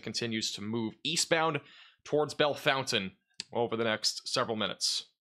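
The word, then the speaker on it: Bellefontaine: in between here near the Bell or the Bell Fountain pronunciation with the two e makes it crazy Bell Fountain um near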